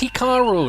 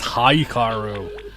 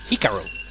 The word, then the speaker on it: Hikaru: and also it's pronounced hikaru not haikaru hikaru it's a japanese name damn it i hated